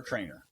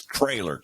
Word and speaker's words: Traylor: Trailer or Trainer? Trainer, yeah. Let me look him up before I mispronounce his. It's Traylor, Traylor, Jeff Traylor.